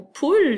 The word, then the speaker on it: poule: poule dont le mot poule le ccri p au but l e alors le à la fin il est muet on ne l'entend pas mais il sert à